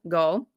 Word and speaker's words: Gaal: the victim's name correctly so thank you so much to all my hungarian grizzlies who've been commenting and literally finitely phonetically spelling it out so that i can be like oh or show you or show your goal okay so gold was